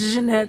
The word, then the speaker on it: Janette: but if I say Janette am I saying it correctly I let people say however it's Janette because it's French but it's okay Jan